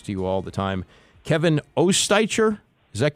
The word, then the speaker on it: Oestreicher: Kevin Oestreicher, is that correct? It's Oestreicher, but I appreciate some people just go with Oster, so I appreciate you trying.